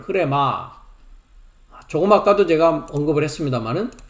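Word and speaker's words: ῥῆμα: 발음을 흐레마 조금 아까도 제가 언급을 했습니다만은 요한복음 6장 63절의 말씀이 흐레마입니다.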